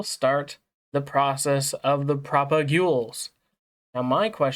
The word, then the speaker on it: propagule: They're called propags. Or actually, you know what? I'm going to look it up because I might be saying it wrong. Apparently, uh apparently it's called propagule.